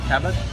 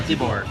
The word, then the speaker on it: Thibaut: Talbot and how do you say your name Cabot no Tibor keyboard and he's French from a very interesting